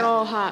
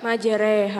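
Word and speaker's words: مجريها: Enggak boleh dibaca tulisannya majraha majraha tapi dibaca majreha.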